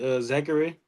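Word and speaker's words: Zaccharie: yeah and he the number one overall pick Zachary that's how you pronounce his name he's been pretty good as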